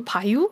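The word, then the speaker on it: Baye: 그래서 발음도 영어로 하면은 뭐 나탈리 베이라고 나오는데 또 검색하다 보면 불어식으로는 나탈리 바유 막 이렇게 발음하기도 하고 네.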